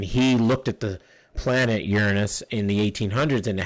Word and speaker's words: Uranus: planets jupiter saturn this one people will say uranus no it's pronounced uranus uh it actually comes from people always laugh